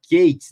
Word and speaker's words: K8s: essa abreviação de k8s ou a pronúncia né no inglês né que fica kates né a gente muita gente